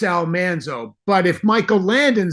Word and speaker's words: Almanzo: on television and I can't explain how we mispronounced the name but we did say Almanzo but I listened to a recording of the